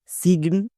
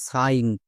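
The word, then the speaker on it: sign: দেখ সাইন একে কে ভুল করে কেউ কেউ উচ্চারণ করে সিগন বা সাইন কিন্তু এর সঠিক উচ্চারণ কোনটা চলো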